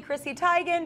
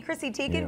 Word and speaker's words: Chrissy Teigen: teigen who was like that's actually Chrissy Tigan but you just keep calling me Christie taken because that's what I'm known as so yeah people yeah people